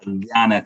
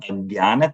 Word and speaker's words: Ajnana: It's Om Ajnana. See, when it is J-N together, it's Gya. Om Ajnana Timirandasya Jnananjana.